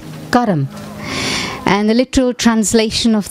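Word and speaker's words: कर्म: myself and my actions this word actually in Hindi or in in Sanskrit is is pronounced Kum and the literal translation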